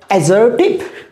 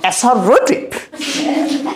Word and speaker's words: assertive: এটার প্রোনাউন্সিয়েশন হচ্ছে assertive, not assertive.